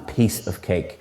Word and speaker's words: piece of cake: them properly and again the pronunciation is a piece of cake you're stressing piece rather than cake next is a very